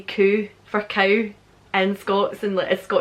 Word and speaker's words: Kuh: So in German, cow is Kuh, but here it's spelled differently, but people do say Kuh for cow in Scots and like Scottish slang.